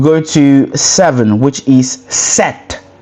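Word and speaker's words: sept: Um you go to seven which is set set. S E P T that is a spelling of set. So you can pronounce that on your own to obviously master it.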